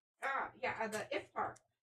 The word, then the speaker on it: iftar: At the iftar.